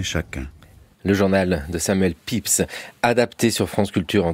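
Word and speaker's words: Pepys: le rôle de Samuel pips ça s'écrit pépise si on voulait prononcer à la française Alan potovski qui est-il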